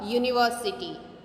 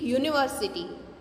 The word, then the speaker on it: university: See, a university. Here we speak not university, we speak university. It sounds Y, not U. So Y is not a vowel, it is consonant.